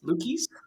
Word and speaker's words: Luchies: Because we were just talking about how your last name, I always thought it was Luchies, but it's Luchies. Luchies, you got it.